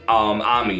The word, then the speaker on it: Ami: With those being Ian, Soji, Nosan, and Ami. Now, I know it's Amy, but in Japan they say Ami, so I want to go ahead and say it like that.